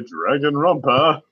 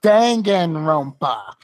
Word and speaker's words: Danganronpa: if you ever wanted to play dragon rumpa a sign from God it's pronounced danganronpa it means trigger-happy and if you didn't